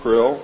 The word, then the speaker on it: Krill: His name and title was His Omnipotent Highness Krill, pronounced Krill, spelled K-R-L-L-L or C-R-L-L-L.